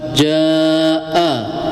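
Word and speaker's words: جاء: Ja lafaz jaa jaa ya hukumnya mad wajib muttasil ya itu panjangnya 4 sampai 5 harakat.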